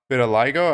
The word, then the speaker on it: vitiligo: because they all have vitiligo. I don't know how to pronounce it. Yeah, the Michael Jackson skin disease. Yeah. Vitiligo. Is that how it's pronounced? That's how I've always heard it.